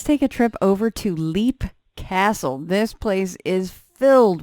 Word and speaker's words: Leap: let's uh let's take a trip over to leap castle this place is filled with history and stories oh i loved it and actually it's pronounced lap wow see i learned something every time i